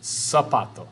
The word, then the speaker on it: zapato: Z or zeta, Z, es pronunciado S en español, right? Every time you see a Z word. So like zapato, zona, paz, incorrecto. It's pronounced zapato, zona, paz, luz, rezar, zoológico. Those all have S sounds to it.